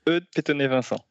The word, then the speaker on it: Eudes Petonnet-Vincent: Eudes Petonnet-Vincent. Yeah, pretty close. It's Eudes Petonnet-Vincent. Impossible okay. to pronounce for English-speaking people.